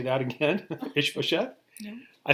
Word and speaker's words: Ishbosheth: Say that again, Ishbosheth.